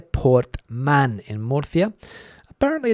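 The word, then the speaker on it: Portmán: of Spain, a place called Portman, I think it is, or Portman. The accent on the A in the word there, Portman in Murcia.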